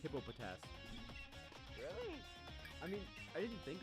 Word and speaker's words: Hippopotas: but now I can I thought it was just called hippo task I didn't know it was hippopotas I mean I didn't